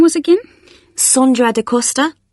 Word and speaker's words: Sondra: your name was again sondra de costa is that sandra no it's spelt with an o so that's s-o-n-d-r-a and